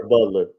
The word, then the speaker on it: Gerard Butler: Gerard Butler.